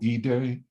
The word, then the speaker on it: Ide: are you familiar with joe e day his last name is spelled ide and he writes a